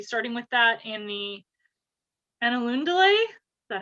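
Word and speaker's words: Ainulindalë: episode we'll be starting with that in the annaloon delay is that how you say it on a lindelay okay got it so it's essentially genesis yeah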